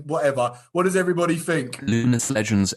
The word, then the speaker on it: Luminous: Illuminous Legends event. Nope. What is it? No, Is that no? Luminous. Illuminous. No, No, it's just Oh, it's just luminous. Oh no, okay, fine, luminous.